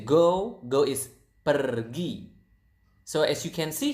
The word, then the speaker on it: pergi: If you guys speak Spanish out there, I think you will notice that Indonesian pronounce the R quite similar to the Spanish language. To the Spanish. So it's pergi. Again, pergi.